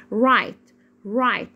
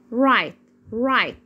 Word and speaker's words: right: رايت. الجي والاتش هنا سايلنت ليترز، يعني حروف صامتة ما بنطقهاش. بقول رايت.